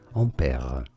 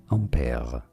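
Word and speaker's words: Ampère: you say it well in french his name is said as ampere ampere in english this is generally said one of two different ways either in british english ampere ampere or in american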